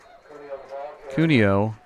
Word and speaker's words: Cuneo: Cuneo is the correct pronunciation, and he is up about 6 yards.